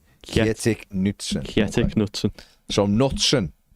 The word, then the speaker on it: Kjetil: Kajetsi Knutson.